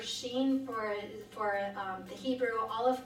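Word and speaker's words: shin: Sh I am but pronounced more Sheen than Shem that you'll hear both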